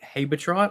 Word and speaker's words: Habetrot: that is the little fairy chick Habetrot, I believe is how you pronounce her name.